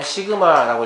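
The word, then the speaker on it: Σ: 이렇게 U자를 좀 찌그러진 모양인데, 얘를 뭐라고 읽냐면, 시그마라고 읽어요.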